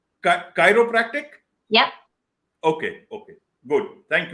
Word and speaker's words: chiropractic: hero practice thing if I'm pronounced am I pronouncing it correct Chiropractic Chiropractic yep okay okay good thank you so Chiropractic